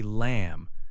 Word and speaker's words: lamb: Other words with a silent B include thumb, say thumb, and lamb, say lamb.